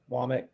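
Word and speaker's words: Wommack: I think it's Womack. Womack is how they're saying you pronounce it, or linguist.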